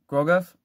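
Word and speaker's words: Groguf: if you guys if i'm saying your name wrong i'm sorry at um grosgov grogoff g-r-o-g-u-f thank you for letting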